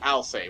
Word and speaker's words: Alcest: a play on words to say alcest i'll say or i'll say the actual pronunciation of the band i'll say one of my favorites